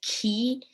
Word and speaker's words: qi: about key skills so qi can also pronounce be pronounced as key and it's an important